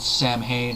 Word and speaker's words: Samhain: Not as hardcore as, let's say, Danzig's band Sam Hain or Samhain, whichever pronunciation you choose.